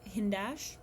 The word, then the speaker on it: Hindash: it would look good on me i watch hindash that's how you say it occasionally but i'm